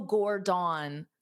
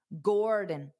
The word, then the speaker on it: Gordon: So you have to pronounce the gore louder and longer, and then the din very fast. Dada, Gordon, Gordon, Gordon.